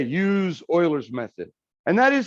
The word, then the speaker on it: Euler: going to say use euler's method and that is how we pronounce it by the way not euler yeah back in the day in houston uh they called their math club the houston oilers and they spelt it